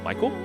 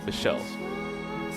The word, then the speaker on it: Michel: Is it supposed to be pronounced Michael? Just want to confirm just to make sure Michelle got it.